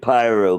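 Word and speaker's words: Paeroa: Zealand drink yeah and we pronounce it pyro because there's a y no no it's p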